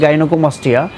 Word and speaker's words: গাইনোকোমাস্টিয়া: সঠিক উচ্চারণ গাইনোকোমাস্টিয়া।